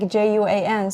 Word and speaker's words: Joan: So the pronunciation is like Juan. So in Chinese, we pronounce it as Juan. Yeah, the meaning is a beautiful lady. Oh, that's beautiful. Yeah, like for Spanish, it's like Juan, and it's actually a man's name.